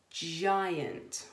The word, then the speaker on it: giant: and the Beanstalk so remember it's that soft G sound a what's it say giant well done giant and I also said